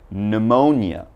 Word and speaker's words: pneumonia: very very common but don't say the P alright so just one more time I'm gonna pronounce these for you so listen up we start with pneumonia Psalm psychology psychiatrist psychic